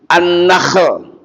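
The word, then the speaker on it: نخل: Ada surah hah annakhl ada kan ada surah annakl pakai ha bersih.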